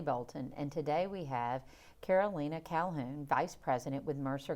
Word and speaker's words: Karolina: I want to call you Karolina, but it's Karolina, and you told me your name is Polish, right?